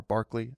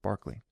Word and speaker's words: Berkeley: You have western philosoph philos philosophical echoes like Kant George Berkeley or Barkley I think how it's actually pronounced even though it's spelled Berkeley and I believe is